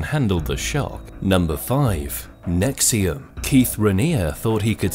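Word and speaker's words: NXIVM: this thing called called NX IVM which he pronounced as nexium at first it seemed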